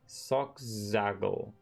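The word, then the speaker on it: Solkzagyl: I think it's pronounced Sockzaggle. Sockzaggle. Sockzaggle. Okay, that's right. It's S-O-L. And then K. Sockzaggle.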